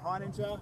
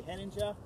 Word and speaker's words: Heininger: I say Heininger, they say Henninger. I say Heininger.